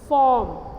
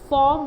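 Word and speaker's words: form: Consonant है, ठीक है, तो पहला स्वर बोलने में दीर्घ बोला जाता है, जैसे फॉर्म, ठीक है, फॉर्म बोला हमने तो हम यहाँ पे आर क्या हो गया, बहुत हद तक साइलेंट हो गया, ठीक है।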